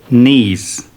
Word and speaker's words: knee: 30 knees. Pay attention. We don't pronounce k. We say knee.